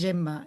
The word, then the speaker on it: Gemma: Mi nombre en catalán es Gemma y como O me sea, está canso bien de hacerlo pronunciado en en catalán.